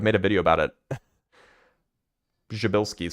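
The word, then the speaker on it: Przybylski: Jabilski star. That's how you pronounce it, by the way.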